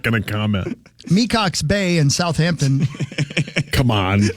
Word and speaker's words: Mecox: It's spelled MECOX.